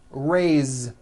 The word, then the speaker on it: raised: let's do some verbs raised meaning like to raise my hand now this word is a bit unusual because even though it is spelled with an S it's pronounced with a voiced Z raised so we say